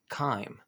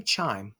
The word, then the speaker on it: chyme: but it's pronounced ready chyme and it's just a thick liquid this is that thick liquid of food and digestive juices and that chyme so don't say chime it's that chyme you know here's that